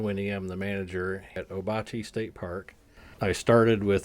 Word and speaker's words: Ouabache: It was changed back to the original pronunciation which was obachi.